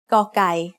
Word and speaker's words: กอไก่: The sound of กอไก่ as the initial consonant of a syllable is g. It is very similar to a hard G or an unaspirated K.